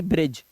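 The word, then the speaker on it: bridge: इसे पढ़ रहे हो बी आर आई जी ई ब्रिज D silent है इसलिए इसे पढ़ेंगे एज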